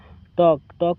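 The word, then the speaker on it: talk: टॉक का मतलब होता है बात करना। इसमें एल साइलेंट होता है।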